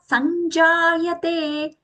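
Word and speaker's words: सञ्जायते: Use that anj sound for it because there we are getting chavarga's nasal consonant along with ja as a joint consonant there. Sanj. Use the anj sound as aghatan sa.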